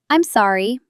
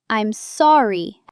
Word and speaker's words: I'm sorry: I'm sorry. The stress is on the sore. I'm sorry.